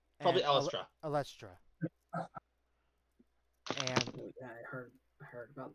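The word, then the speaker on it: Eilistraee: Elistre. No. A follower of Saluna. Elistra. Probably Elistra.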